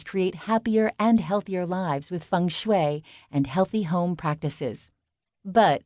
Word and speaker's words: feng shui: Better say it right, funue.